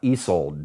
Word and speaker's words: Isolde: cats her name is check this out Isolde that's how they pronounce it at the rescue center beautiful place real close